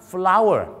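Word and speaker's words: flour: คำ ครับ ก็ คือ คำ ว่า F L O ur R อัน นี้ แปล ว่า แป้ง ทำ อาหาร น่ะ นะ ครับ ออก เสียง ว่า Flow ดัง นั้น เ นะ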